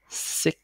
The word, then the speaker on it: six: không phải, nó là six, âm S ở dài đó, tiếng là six, thấy khó chưa, thấy